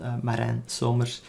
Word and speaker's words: Maren Sommers: maran sommers and um if you ever wondered how you would pronounce my name it's called maren sommers um i'm an i.t